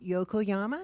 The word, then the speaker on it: Yokoyama: miss richard uh yokiyama feel free to correct me on that pronunciation thank you and my name is yokoyama you said it correctly it's japanese but i